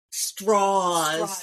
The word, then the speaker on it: Strauss: out with this douchebag, Straws. The Southern pronunciation to make him sound a little less Jewish.